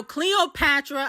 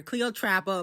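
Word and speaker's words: Cleotrapa: her musically no shade now Cleopatra I mean oh I'm sorry Cleo Trapper but by the way y'all was saying I was saying her name wrong yesterday Cleo Trapper is such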